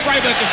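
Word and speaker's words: friberg: them coming towards him first man is pronounced freiburg flusha has on the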